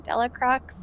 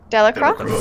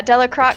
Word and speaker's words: Delacroix: you say his name telic rocks like Wow Delacroix French yeah yeah Delacroix yeah the and is